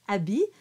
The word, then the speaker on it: habits: So we do that liaison between trois and habits. The H is silent. So it's trois habits. Deux jaunes, l'autre en papier gris.